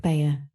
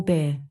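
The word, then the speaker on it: Bhaer: Now don't laugh at his horrid name, it isn't pronounced either bear or beer, as people will say it, but something between the two, as only Germans can give it.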